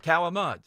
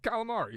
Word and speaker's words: calamari: It's not Italian. Calamud. No, it's calamari. Yeah. The blasphemy. It's calamad.